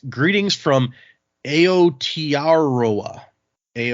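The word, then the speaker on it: Aotearoa: And the title say, and I'm not going to be able to pronounce this correctly. It says, "Greetings from Aotaroa."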